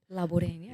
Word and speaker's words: Laborin: All right, there's Laborin. Laborin. Yeah, you said it. You said it right.